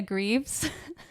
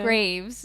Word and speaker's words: Graves: Nia Greaves. The way it's spelled is kind of, you could go either or. Yeah, it's Graves.